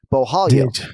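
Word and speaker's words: Borralho: If you see 2 R's together in a Brazilian name that's pronounced with Brazilian Portuguese, the 2 R's become an H. Bohalio, right?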